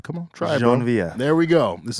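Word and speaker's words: Geneviève: speak Creole or French, I'm gonna tap into the little French and the pronunciation that I do know. So this is Jenevieve.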